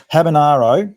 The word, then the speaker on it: Habanero: So we've been pronouncing this horse's name wrong. It's Habanero.